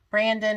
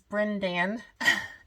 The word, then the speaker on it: Brendan: it correctly too because i wanted to say brandon and then brendan but it's brendan and from the first